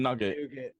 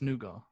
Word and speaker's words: nougat: American nougat you mean nugget it's French it's nuga nuga yeah as opposed to